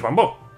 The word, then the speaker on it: Bambó: Mi nombre es Bambó. Es Bambó, ¿no? Es Bambó, hace referencia al bambú, pero es Bambó.